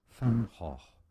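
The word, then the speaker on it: Van Gogh: French could not pronounce Vangok properly. I don't think I'm doing it right either. Here's the correct pronunciation in Dutch. Fanho fan. Not Van Go, but Fanh.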